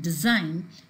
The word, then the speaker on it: design: Here, the words like report and design, whether they are used as verbs or they're used as noun, the stress is on the second syllable.